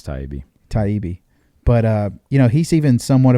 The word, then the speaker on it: Taibbi: I think I said Talibi. Yeah, I think it's Taibbi.